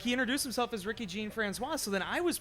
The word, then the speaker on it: Jean-François: introduced himself as Ricky jean-françois so then I was pronouncing a tricky jean-françois for a while lady for the time after that then it was brought to my attention that is Jean Francois so you just got